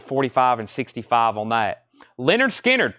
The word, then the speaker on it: Lynyrd Skynyrd: the monkeys and 45 and 65 on that Leonard Skynyrd pronounced Lynyrd Skynyrd VG 1499 the OG MCA label